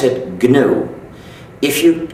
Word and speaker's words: GNU: But when it's the name of our system, please do not follow the dictionary. Please pronounce it GNU. If you call it the new operating system, you'll get people very confused.